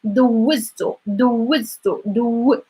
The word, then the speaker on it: دوزتو: دوزتو. So the W is like دوزتو.